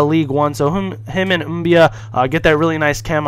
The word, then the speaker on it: Mbia: But then we got Mbia, or Mabia, however you guys want to pronounce it. I say Mbia, people say Mabia, but he's out of Marseille in the League One.